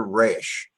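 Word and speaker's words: ריש: The next one is the letter Resh. R-A or R-E-Y-S-H or R-A-Y-S-H, either way you'd like to spell it.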